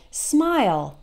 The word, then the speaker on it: smile: So we always pronounce it like aisle in the short words like smile, okay?